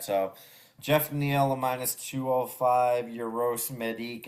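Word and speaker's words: Geoff Neal: Does he pronounce it Jeff or it's Jeff Neal, right? Yeah, Crazy. All right. not Chef Neil.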